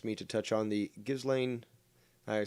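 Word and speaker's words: Ghislaine: that is her name i used to say jizz lane which is what i heard but that's apparently incorrect she's although she loves the jizz that's not the way you pronounce it it's gizlane stupid name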